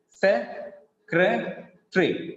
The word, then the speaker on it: secretary: When we read like this, the number of syllables will be decreased to 3. Se-cre-tree, se-cre-tree. So it has only 3 syllables.